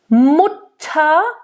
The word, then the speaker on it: Mutter: Mutter, nice open U, not Mutter, Mutter.